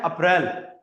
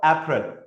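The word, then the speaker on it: April: हिंदी में हम इसको कह देते हैं अप्रैल। बट in English it's called अप्रैल। मैं अभी रीज़ंस बताऊंगा कि क्यों मतलब ये कैसे डिसाइड करें। इसमें दो वोवेल साउंड्स हैं। एक और दो। हिंदी में जो हमारा साउंड होता है ना वो एक साथ जाता है। ऐसे बट इंग्लिश के अंदर आपको स्ट्रेस और डी स्ट्रेस मिलेगा।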